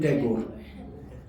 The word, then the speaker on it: Tagore: Rabindranath is Thakur, but English could not pronounce, so they made him Tagore.